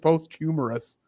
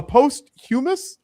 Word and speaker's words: posthumous: Uh and Catherine O'Hara, she won a post-hum post I almost said post-humorous. A post-humorous SAG Award. A post-humous post-hum How do you say that word, Trey? Posthumous.